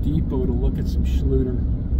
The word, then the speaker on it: Schluter: I'm gonna go to Home Depot to look at some Schluter. Schluter is what I said. That was not a mispronunciation.